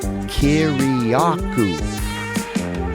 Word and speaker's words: Kiriakou: And I go, "Kiriakou," just like it's spelled.